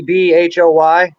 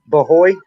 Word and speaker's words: Bhoy: I can't pronounce that in a way that's Steve, gonna sound right. Stevie Boy. Bahoy. I mean, because you got the H in there. I can't Yeah, but pronounce that where it's gonna sound right. So I'm gonna use we the easier of the name that I can read. we pronounce it just Stevie Boy.